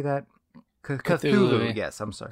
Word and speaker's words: Cthulhu: Cthulhu. Yes, I'm sorry. Call of Cthulhu is at 30,000.